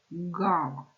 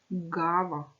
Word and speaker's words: ґава: назву її ще називають ґава вимовити це слово ґава ґава який звук Ви чуєте перше він скаче наче м'ячик значить це приголосний звук Бо в ньому утворюється